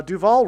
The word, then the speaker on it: Duval: Uh Duval rhymes with Hall.